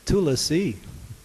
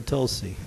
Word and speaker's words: tulasi: maybe three last season it's tulasi or Tulsi it's not - Lassie we say that all